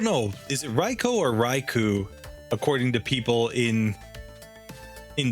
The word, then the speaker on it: Raichu: Japanese it would be raicho because OU in Japanese you know phonetics and when you're writing romaji in Japan the U is just extending in the o sound so it's the same